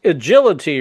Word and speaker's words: iJility: Trent coming in and it's agility right is that how it's pronounced yes sir that is correct all right so let's